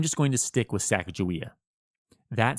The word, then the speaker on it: Sacagawea: pronunciation of her name most scholars today fall into the hard G Sacagawea camp and that's fine but